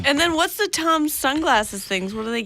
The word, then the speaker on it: Toms: Fucking Tom shoes. He thinks he's so cool. He's probably like, if you ever met him, he's like, it's pronounced Toms.